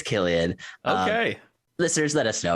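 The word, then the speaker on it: Cillian: uh killian murphy i i mispronounced his name uh when i announced this it felt is it killian murphy i believe so right i always thought it was silly and murphy someone called me out after this oh so happy to be corrected i believe it's killian okay listeners let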